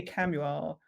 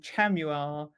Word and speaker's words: Chamuel: seeing so many people because I say camuel and then I've seen people saying chamuel and shamuel so okay you know